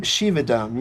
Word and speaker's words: Shivadam: and what does shivadam mean shivadam uh shivadam shivadam yes is the proper pronunciation and uh it literally means well-being prosperity